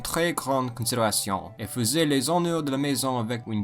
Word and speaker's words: les honneurs: Because the H is often not pronounced in French, it is considered a vowel. Thus, instead of les honneurs, it is les honneurs.